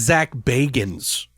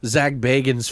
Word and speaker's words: Zak Bagans: say man sir cuz a Disney well is zak bagans for any of you sack Baggins fans out there who gave me a [